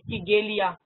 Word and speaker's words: Kigelia: Sausage tree का spelling मेरा wrong हो गया है, इट इज कीगेलिया।